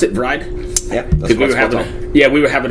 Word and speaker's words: Vreid: about dry and actually that's the way to pronounce it bride yeah yeah we were having a discussion beforehand yeah read is the way I was pronounced yeah that's